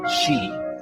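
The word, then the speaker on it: sidhe: the word she, pronounced she, refers to fairies, elves, and other nature spirits.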